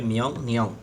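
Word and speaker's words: 명령: মিয়ং নিয়ং আদেশ করা। মিয়ং নিয়ং। ইয়ং এর পরে রিয়েল আসলে রিয়েলের উচ্চারণ ন হবে। উচ্চারণ হবে মিয়ং নিয়ং আদেশ।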